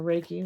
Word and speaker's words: Reiki: I'm going to pull a little reiky energy or Reiki whichever you like to pronounce or hear it pronounced and see what comes